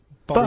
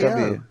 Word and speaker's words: B.O.: Like rain is the weather, and it smells like body odour. Body odour. No, it's B.O. It's B.O. That's It's pronounced B.O. B.O.W. Well, yeah, but you've got to play. It's not pronounced bow, and it's not spout bow.